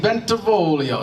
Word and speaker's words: Bentivolio: Bentivolio?